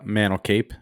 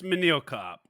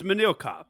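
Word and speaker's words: Manel Kape: Yeah, I'm gonna go with Mantle Cape minus 175 or minus 179. I apologize. It's Manil Cop.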